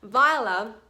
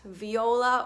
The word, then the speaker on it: Viola: And just as a final note before we finish, Viola as a name is pronounced with 2 syllables, not Viola or Viola.